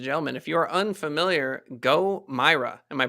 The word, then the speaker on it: GoMeyra: that ladies and gentlemen if you are unfamiliar go myra am i pronouncing that right yeah go mara gomera yeah g-o-m-e-y-r-a um if you're sick of having